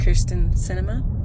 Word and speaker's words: Kyrsten Sinema: am here today to talk about the christian kirsten cinema that's how you say her name um issue